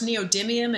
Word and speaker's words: neodymium: does not know what that is of course, neodymium and praseodymium. Did I pronounce that properly?